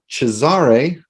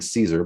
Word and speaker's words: Cesare: here for uh now chazzare child of night which took me a minute to i was in my head i was saying caesar but that's not correct actually uh we've